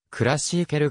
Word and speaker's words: Klassieker: 集めた時に暮らしケールと表記されるが発音はクラシーケルが近い 2008 年にワールド